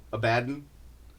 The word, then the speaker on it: Abaddon: Abaddon.